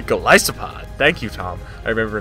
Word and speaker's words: Golisopod: Even worse than Golispod is called it. It's actually Golisopod.